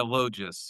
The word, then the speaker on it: Logis: Lois.